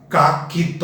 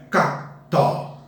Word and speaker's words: cacto: Nunca vamos pronunciar caquito. A palavra não é caquito, é cacto. O C quase não aparece neste encontro consonantal.